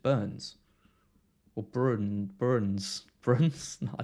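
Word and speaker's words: Bruyns: has said before bro it's b-r-u-y-n-s so i call it like bruins but i think he said he's just burns or bruin burns friends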